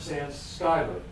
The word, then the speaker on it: Schuyler: Well, let's start with Robert Schuyler. That's how his name is pronounced.